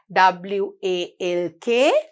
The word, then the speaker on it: walk: ඔන්න මගේ දුවලා පුතාලා spellings පාඩම් කරේ නැත්නම් walk කියන එකට L අකුරක් එනවා. ඒක silent letter එකක් කියලා පුතාලා දන්නේ නැති වෙනවා. So you have to study the spellings. W-A-L-K, walk.